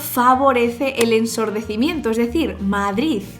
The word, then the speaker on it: Madrid: aproximan t es decir es la variedad de madrid donde hay una de muy suave al final